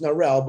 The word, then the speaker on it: Narelle: First, Narelle, because I love her name is pronounced Narelle, but we call her Narelle because it's cute.